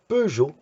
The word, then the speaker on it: Peugeot: The Peugeot or the Peugeot, the car, is Peugeot, and in Danish, Pêcheux, because everybody got that wrong. Is sure it's a Peugeot, not pêcheux, pêcheux.